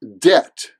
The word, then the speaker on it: debt: silent next up is debt debt debt now I know this word has a B in the middle and some people try to pronounce the B as in debit or